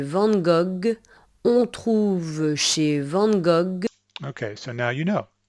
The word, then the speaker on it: Van Gogh: this painter in French, you might say Van Gogh, because in English, or at least in American English, I say Van Gogh.